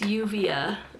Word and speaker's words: Juvia's Place: of the uvs place juvia sorry juvia's place in spanish it's yuvia or like uvia is it how i would say it so that's why i